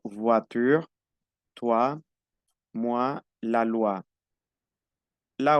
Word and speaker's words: voiture: La O y la I se pronuncia UA, una U y una A. UA, UA. Entonces digo voiture, toi, moi, la loi.